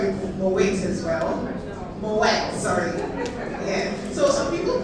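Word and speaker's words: Moët: Moette. Sorry. Yeah. So, some people pronounce it as Muay, but unfortunately you're very wrong.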